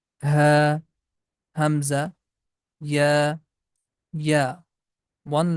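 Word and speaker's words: هاء: that is Noon, Waw, that's letter Ha, comes from the end of the throat, the deep sound, Ha, Hamza, Ya, Ya, one letter, and it has two shapes.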